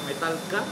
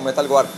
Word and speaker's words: Metal Guard: ¿Metalguar? Metalguar se dice, digamos que es la pronunciación en inglés, pero pues todo el mundo lo conoce como Metalguar.